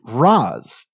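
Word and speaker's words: Ra's: they'll tell you that the word for head is pronounced Raz with an a sound like Father uh but uh Denny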